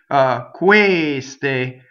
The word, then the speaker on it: queste: Queste, queste. So all of these words, questo, quella, they're closed E's on the stress.